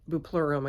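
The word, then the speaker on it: Bupleurum: I can't say this word, buplurum, I think is how you say it.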